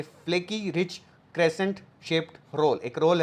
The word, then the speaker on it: croissant: Next word हमारे पास है, ये वर्ड आप सब ने सुना है, दैट इज क्रोसों। इसकी स्पेलिंग भी आपको याद करनी है, दैट इज CROISSANT, क्रोसों।